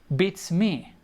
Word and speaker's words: beats me: that is bits me beats me so the pronunciation the emphasis is something me not on the bits so it's bit and